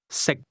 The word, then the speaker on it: 食: 識， The difference between the two is that can is spoken with a high level tone, and to eat is pronounced at a low level.